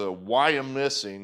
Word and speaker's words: Wyomissing: It's a Wyomissing, that's how you pronounce that. Wyomissing 5.